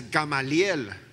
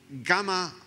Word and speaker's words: Gamaliel: In Spanish, it's Gamaliel. I was asking my children, how do you pronounce it in English? And it's Gamaliel.